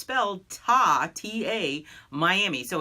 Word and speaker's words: Tamiami: Sarasota Florida area and Tamiami runs from Tampa which is the TA part to Miami so it's felt aa TA Miami so it's Tamiami is